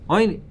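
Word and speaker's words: עוני: Rav Yosef Galili, mi karina and ani, but we don't pronounce it ani, oini karina. We pronounce it as oini, and therefore it's a lashon, and therefore of aninos, and it excludes Maaser Sheni.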